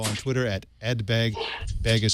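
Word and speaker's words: Baig: Begg is spelled B-A-I-G.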